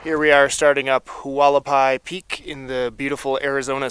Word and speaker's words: Hualapai: we are starting up Hualapai peak in the beautiful Arizona sunshine I think it's pronounced haapi I think I have that right and even though it's